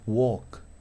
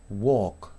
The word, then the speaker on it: walk: O walk, walk, ¿sí? No pronuncio la L, ¿sí?